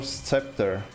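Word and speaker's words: sceptre: So how do you pronounce the scepter or scepter? Scepter or or the S is silent. Scepter. Scepter is without this C letter, right?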